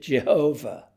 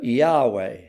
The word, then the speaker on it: Yahweh: For centuries, people pronounced it Jehovah, but in modern scholarship, they prefer Yahweh.